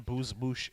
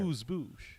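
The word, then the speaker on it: amuse-bouche: And a booze moosh, if you would.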